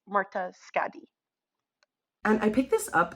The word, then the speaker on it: Skau: Editing note here, it's pronounced Skadi. I learned how to pronounce it correctly. Just in the beginning there was Norwegian writing. When I had first read the word, I thought it was an O there, but it's actually a D sound.